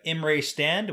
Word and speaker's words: Imre Stand: chapter 37 we have imrae stand which i had to look up to make sure i pronounced that correctly and i did and chapter 38 hidden